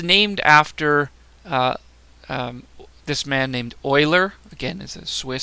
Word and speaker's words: Euler: after this man named Euler again as a Swiss so it's not pronounced the way you might think pronounced Euler and you know it's